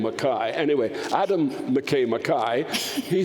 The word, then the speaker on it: McKay: real we don't say McCain's Scotland we say Makai that's the how you properly pronounce that name Makai anyway Adam McKay Makai he thought because he's